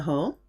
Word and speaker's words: hall: It's acting like a consonant, so you can't say lol, often used with foreign words like hall, but pronounced with a French accent, hall.